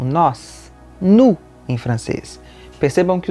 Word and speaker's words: nous: O S final, que não é pronunciado quando a gente diz a pessoa sozinha, nous, passa a ser pronunciado com o som de Z quando a gente conjuga com o verbo aller.